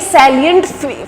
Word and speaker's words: salient: ठीक है, तो उन्होंने ना ये सैलिएंट फीचर्स दिए थे, ये साइलेंट नहीं है, देख लेना, स्पेलिंग है SALIENT, सैलिएंट फीचर्स, मतलब जो ऐसे फीचर्स जो सिर्फ इसी में पाए गए थे।